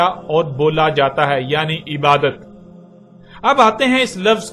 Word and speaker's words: عبادت: کی آواز میں بدل جاتی ہے، یعنی اسے عبادہ پڑھا یا بولا جائے گا۔ عربی کا لفظ